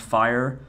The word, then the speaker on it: FHIR: focus on the downside so for example fhir pronounced fire is creating data standards to be used through